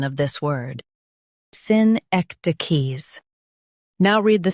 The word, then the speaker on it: synecdoches: Both US and UK have the same pronunciation of this word, SYNECDOCHES. Now read the syllables shown on the screen naturally. Syn, ek, d, keys. SYNECDOCHES. Emphasize ek and keep d soft.